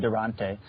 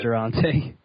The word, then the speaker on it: Durante: I've always pronounced his name in my head Durante. Durante. That's actually what I was thinking. Yeah, it is Durante.